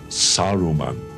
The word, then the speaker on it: Saruman: It is Saruman.